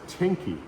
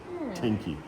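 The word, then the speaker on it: 天気: And the word for weather is teni. T E N K I. Of course, it's not teen because they don't use English, but it's the Japanese characters that are pronounced teni.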